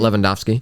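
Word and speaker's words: Lewandowski: close to my heart but the W's sound like V in Polish okay yeah okay they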